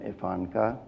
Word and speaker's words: IFANCA: nutrition Council of America acronym evanka rhymes with Ivanka we started as an